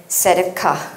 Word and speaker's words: tzedakah: But anyway, I don't speak Hebrew. I checked on the internet and apparently it is mishpat and tzedakah.